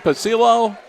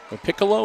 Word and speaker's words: Piccolo: Caden Pacillo. Piccolo is how they pronounce it, okay.